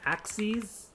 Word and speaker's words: axes: vertical number line um axes so it's pronounced ax c's like that is just the plural of axis so if i say axes that's what i'm talking